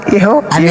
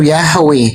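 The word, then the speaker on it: Yahweh: Bang Suma itu bukan pengucapan yang ee kurang tepat. Yang paling tepat pengucapannya itu Yahwe.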